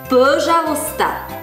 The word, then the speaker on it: пожалуйста: русская но попами слова пожалуйста пожалуйста слог ударение падает на первый слог пожалуста или совсем-совсем помни слова